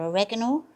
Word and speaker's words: oregano: put a bit of oregano or oregano as some of you might pronounce it you can put salt